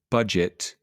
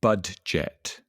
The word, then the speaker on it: budget: But the one thing we all agree on is the D is silent. It's budget, not budget.